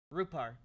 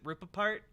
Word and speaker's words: Rupar: And God bless Aaron Rupar. Okay, I was gonna try and say his name, and then I was like, no, is it Rupapart? It's definitely not Rupapart.